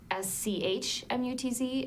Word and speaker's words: Schmutz: It used to be spelled SCHMUTZ and pronounced Schmutz, you know, Okay, back all in the right.